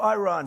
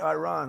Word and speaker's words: Iran: And the man said, no, we are going back to Iran. See, now I say Iran. I don't use because he obviously has a correct pronunciation. We will go back to Iran.